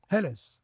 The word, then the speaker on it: Helles: Et comment elle prononce Hell, d'ailleurs? Alors, Helles.